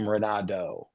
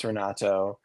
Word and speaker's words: Renato: any one noticed that almost every American pronounces my name ronado like a deer that's what I've been doing yeah that's what everyone does and I just accept that um but yeah my name is ronato and like people who